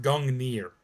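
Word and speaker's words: Gungnir: don't know if you go hard onto the gungner or gungyer i also think you might be able to spell that spear both ways possibly because some languages are weird about that okay it is pronounced gangner all right interesting so the g is silent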